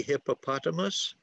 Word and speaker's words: hippopotamus: If you say the word hippopotamus and you want to show where the stress is with your friend, you can say hippopotamus. And when you give them a high five where the stress goes on the word, hippopotamus, hippopotamus, hippopotamus, okay?